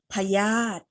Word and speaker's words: พยาธิ: ต่อ มา คำ นี้ มี ตัว สระ อิ อยู่ ที่ ตัว สะกด เห็น ไหม คะ อยู่ บน ธ ธง แต่ เรา กากบาท ไป เลย เรา ไม่ ต้อง ออก เสียง สระ อิ ตัว นี้ นะ คะ คำ นี้ อ่าน ว่า พยาธิ พยาธิ พยาธิ คือ อะไร เอ่ย